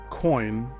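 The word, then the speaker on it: Coyne: Captain Larry Coin, that's spelled C O Y N E, took the yoke.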